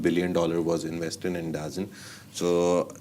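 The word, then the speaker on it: DAZN: a minor stake in Dazin D ZN Dazzen the people have a lot of announce uh pronunciations for that but I call it Dazin.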